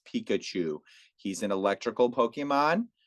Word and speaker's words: Pikachu: nerd like me you're like Pikachu right it's Pikachu he's an electrical Pokemon right what color is